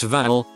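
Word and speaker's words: Hval: name is voldemaputin Val meaning whale and is pronounced Val and he now live around in harborfest which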